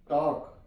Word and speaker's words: talk: For example TALK, टॉक, टॉक। यहां पे ए जो है ये ओ की आवाज, ओ का साउंड दे रहा है, टॉक, टॉक।